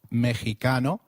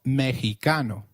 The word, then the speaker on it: Mexicano: pronounced as X inflexible it is pronounced as a throaty H in the words Mexico Mexicano and Oaxaca which is a state